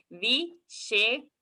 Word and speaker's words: विशेषका: So both the shas are here together, and the pronunciation when we are showing, it should be differentiated in what we are saying. One sh and one is sh, where you touch the roof or tip of the tongue to the roof of the palate.